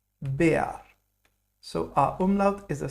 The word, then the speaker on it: Bär: Now, R in German is a strong letter. It's pronounced like AR. So we'll not pronounce this like bear. We'll rather say it Bär.